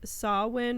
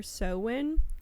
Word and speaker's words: Samhain: festival that was called, I've seen it pronounced a couple ways, Samhain or Samhain, which is actually spelled Samhain.